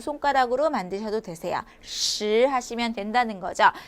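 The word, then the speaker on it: 十: 중요하냐면 발음이 조금 어려워요 얘는 혀를 말아주는 음이라고 해서 권설 의미라고 발음을 합니다 자 발음을 할 때 혀 천장 그 입천장이 입천장에 울퉁불퉁한 곳이 있어요 그곳에 를 치켜 올려서 위아래 이을 닫은 상태에서 쉬라고 발음합니다 다시 한번 슈 바른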